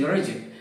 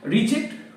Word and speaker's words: reject: them anymore notice that in all cases the pronunciation is reject reject with the stret on the second syll which